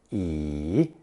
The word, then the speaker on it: 乙: Following jia is a single stroke character pronounced third tone yi and means the second heading, subheading, or item on a list.